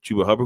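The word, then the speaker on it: Chuba Hubbard: like chuber Hubert hubber oh it say his name wrong uh chuba hubber who's been really good uh you got guys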